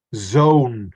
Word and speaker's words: zoon: Zoon. Zone. Yeah, we Zone. pronounce this as if it's like this. Zone.